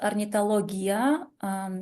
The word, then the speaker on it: Ornithologia: So the name of our association, it's Ornithologia, and it's pronounced Ornithologia because on Kyrgyz language and also in Russian language, which is very developed here, we pronounce like this.